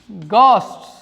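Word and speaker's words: ghost: ही is afraid of गॉस्ट्स। उसे भूतों से डर लगता है। गॉस्ट मीन्स क्या होता है? भूत। ध्यान रखना, इस शब्द को हम घोस्ट नहीं बोलते हैं प्यारे बच्चों।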